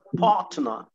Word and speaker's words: partner: ما هي الار الاولانيه مش هتتنطق عشان بعدها تي، يعني جاي بعد منها consonant. ماشي كده متفقين؟ الار الاخيره برضو مش هتتنطق لانها جايه في الاخر، فنقوله ايه بقى؟ my partner.